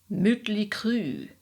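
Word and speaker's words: Mötley Crüe: Looking at you, motley crew, correctly pronounced, you sound like a toy French car from the 40s. Motley crew.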